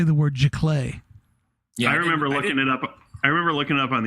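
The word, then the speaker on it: giclée: everybody nobody knew how to say the word G clay I remember looking up on the Internet ji-yong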